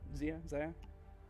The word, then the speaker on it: Xayah: I think, is that how you pronounce it? Xayah? Exia? Exia? Yeah, that's it.